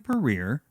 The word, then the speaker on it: Puryear: stroke your own ego Alison Perrier rhymes with career is a licensed clinical